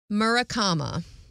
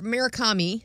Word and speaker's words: Murakami: he is from Japan so I hope I pronounce his name right all right Haruki murakama is his name he was born January 12 1949. okay so murakama or murakami sorry murakami is that what I said Haruki